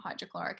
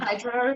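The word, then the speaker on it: hyaluronic: know how to pronounce it because I always want to say hydrochloric, but it's not hydrochloric. It's like Yes, yes. what you said. Hydroluronic.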